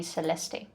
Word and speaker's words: Celeste: you to call me celeste the e is silent at the end it's celeste celeste who's the one saying